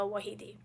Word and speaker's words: Wahedi: And I'm Wahedi, and the proper pronunciation is Wahedi.